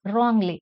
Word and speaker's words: wrongly: letter only the word wrongly is always spell wrongly we don't pronounce it as wrongly it is wrongly W is silent here F had I become